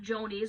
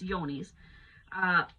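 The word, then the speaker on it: Johne's: It's spelled Johnes. Okay, not Joni's or Johnny's, it's Yoni's.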